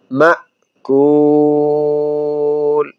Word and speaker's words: مأكول: ফাজআলাহুম কাআসফিম গুণনা হবে, ফাজআলাহুম কাআসফিম মাকুল। অনেকে আমরা মাকুল বলি, মাকুল। এখানে হামজায় সাকিন, মা, মা, মাকুল।